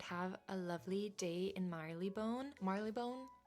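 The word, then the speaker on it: Marylebone: a lovely day in Marley Bone. Marley Bone. I've heard people say it like that, but it's spelled Maril Bone, but I think you're supposed to say Marleone.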